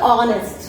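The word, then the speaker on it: honest: উচ্চারণটা হচ্ছে অনেস্ট। আমরা অনেকেই হনেস্ট উচ্চারণ করি, দ্যাটস ইনকারেক্ট। এটা হবে অনেস্ট।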